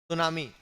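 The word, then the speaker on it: tsunami: 2004 हमारे देश में क्या लिखा है सुनामी टी साइलेंट होता है सुनामी का तूफान आया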